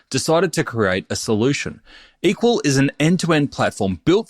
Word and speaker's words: EQL: Andrew Lip is the CEO and co-founder of Equal, that's EQL, pronounced equal.